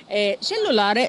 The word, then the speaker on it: cellulare: التليفون المحمول موبايل فون cellulare زي ما قلنا قبل كده بنأكد تاني على نطق حرف التشي حرف التشي هنا جه وراه حرف الاي فبقت تش cellulare facciamo ora invece qualche